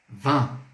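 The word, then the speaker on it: vingt: então como que é 20 em francês vão van vó beleza ver e em gt gt essa pronúncia do 20 em francês vão vão beleza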